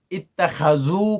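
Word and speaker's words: اتخذوا: 5 बार ये बंदा इत्तखज़ू को गलत प्रोनाउंस करता है, जबकि वो जो कुरान का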